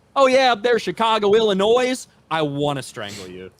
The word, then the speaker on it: Illinois: I refuse to acknowledge a silent S. Looking at you, Illinois. People that call it Illinois, I want to strangle.